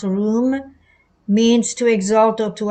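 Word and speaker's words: רום: Number 7311, taken away or room, as used in Daniel 8, 11, 12, and 13, pronounced room, means to exalt or to absorb.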